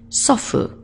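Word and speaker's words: 祖父: His humble form, there's a different one, is sofu. He doesn't ask like his wife, so where's the bottle? He asks, so where's the food?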